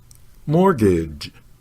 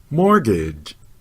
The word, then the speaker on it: mortgage: first syllable as more the second syllable rhymes with bridge say gauge not gauge and of course the last letter e is not pronounced at all try saying it mortgage mortgage mortgage for more lessons on